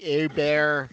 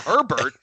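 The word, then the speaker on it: Hebert: And if if anything, you know, Castanza made the country know Bobby a Bear for sure by, you know, correctly pronunciating his name. Making sure it wasn't Herbert, but like a bear.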